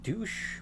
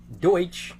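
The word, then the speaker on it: Deutsch: Grant is played by Kurt douche or not douche Kirk Deutch I actually don't that's the German word for German so I'm assuming that's how you pronounce it okay Kurt deut credits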